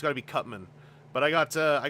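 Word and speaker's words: Cut Man: toys megaan and I'm I've been training myself to use the Captain N pronunciation of megaan and cutman I think in Captain N he was called cutsman and I got to resist I looked at the package there was no s so I have to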